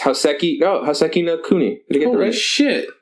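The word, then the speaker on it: Houseki no Kuni: Next up, I can't pronounce it. It's Hoseki no Kuni.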